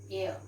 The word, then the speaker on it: heir: He is an so H is silent. We pronounce it as heir.